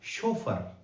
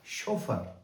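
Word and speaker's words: chauffeur: Champagne और अगला शब्द आपका बन जाएगा शोफर। सी एच ए U double F इ यू आर शोफर।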